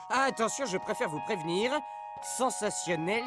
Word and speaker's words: sensationnel: 6 des expériences ou attention je préfère vous prévenir sensationnel s'écrit avec un t comme souvent devant i ou i n comme dans natation ou martien notre ami est juste